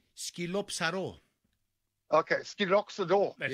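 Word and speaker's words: σκυλόψαρο: Skilopsaro. Oh, Skilopsaro. Yeah. Skilopsaro. Skilopsaro. Okay, Skilopsaro.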